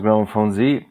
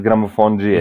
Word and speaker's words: Gramophonedzie: Globally, it is pronounced Gramophonedzie, but the original pronunciation, like from Serbia, is Gramophonedzie.